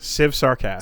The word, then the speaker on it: Civ Sarcast: That's how I pronounce it. Civ Sarcast. Civ Sarcast, like sarcasm, and then a Civ in front.